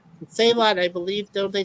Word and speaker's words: Salat: what a Salat is, McCoy actually pronounces it completely different when he asks. I never figured that out. Sell it. Yeah. Sell it.